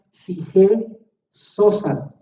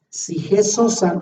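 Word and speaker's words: ψυχὴ ζῶσα: Y ahí alma viviente utiliza dos palabras griegas que ahí las pongo y se pronuncian sige sosan. Sige sosan en griego es el equivalente al nefesh hayah en hebreo.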